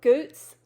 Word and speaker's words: Goots: Goots.